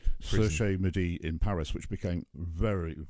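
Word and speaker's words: Cherche-Midi: and ended up in the how do we pronounce that, Nick? Cherche Midi. Cherche Midi in Paris, which became very, very infamous towards the end of the war, with resistance fighters being there, etc.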